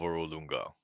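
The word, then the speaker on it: Orolunga: Ulunga. Urolunga. Oolunga. Thank you. God, I can't pronounce shit. Of Oolunga. Would you be perhaps the that said wise guardian? I am the guardian of Urolunga.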